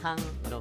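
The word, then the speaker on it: 康: 편안할 강자는 캉으로 발음이 되는데 편안할 캉 이렇게 기억하시면 좋겠습니다.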